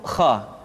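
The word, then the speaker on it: خ: Selanjutnya adalah huruf kha. Kha dikeluarkan dari pangkal tenggorokan. Kha, pangkal tenggorokan. Diucapkan dengan mengalir nafas. Atau lebih praktisnya, pengucapan huruf kha persis terdengar seperti orang yang tidur dalam keadaan mengorok.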